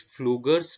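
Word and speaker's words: Pflüger: for stried duct okay p is silent it is fluger duct and that is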